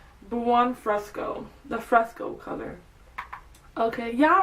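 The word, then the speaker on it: Buon Fresco: So to start off in our crease we're I'm going to go in with Bruno Fresco. No, it's not Bruno. Why do they call it Bruno? Buan Fresco.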